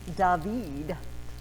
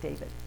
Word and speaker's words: David: It is a painting from the 19th century by a French artist named David. It's spelled like David, but it's David.